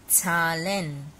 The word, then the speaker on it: Zahlen: Try to pronounce it like if you don't know national language, then you can try pronouncing it with T, T and S. If you make a sound of T and Z together, yeah, some people also make a sound of T and S. Ts. Or else if you know